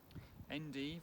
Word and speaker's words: endive: 18th, 1760, planted out endive, a large plot in the field garden. Endive, or some people pronounce it endive, is a leafy vegetable, not grown very often nowadays.